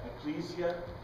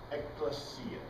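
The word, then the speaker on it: ἐκκλησία: in any case elesia Ecclesia eklesia that's classical Greek pronunciation it is a calling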